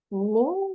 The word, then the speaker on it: 凝: Ning would be like ni, ini, itu, ini, ni plus in. Second tone. Ning, ning, 混, ning.